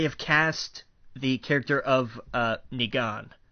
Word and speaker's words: Negan: They have cast the character of Negan, and that's the way I pronounce it. I don't know how anybody else pronounces it. That's the way I make it a long E.